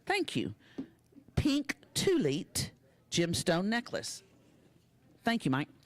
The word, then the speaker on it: thulite: slates where total now is $2,106 T it's pronounced tulit thank you pink tulit gemstone necklace thank you Mike next we have